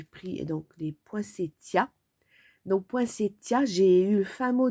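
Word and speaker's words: poinsettia: donc les poinctia donc poinctia j'ai eu le fa mot de l'histoire grâce à tadoun sur sa chaîne elle a parlé des Poa et on prononce comme ça et non pointessia voilà allez voir sur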